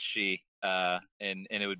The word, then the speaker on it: Shi: the key one yeah so it sounds like she right like the word she uh I've been nailing it all along good man we've we've gotten a lot of different I mean the usual one we get is shy shy is is easy one